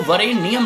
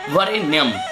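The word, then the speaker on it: वरेण्यम्: जो हम बोलते हैं वरेण्यम, मंत्र के मध्य में वरेण्यम, वो वरेण्यम नहीं होता, वरेण्यम।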